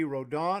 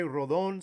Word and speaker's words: Rodón: I always say when I say Rodón, so excuse me if I say it like that, but it's got an accent mark and I just pronounce it in Spanish. But people tell me it's Rodón.